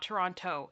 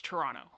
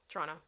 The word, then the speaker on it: Toronto: lot a lot point if you're from Toronto you do not pronounce the second T it's not Toronto it's Toronto Toronto that's how you can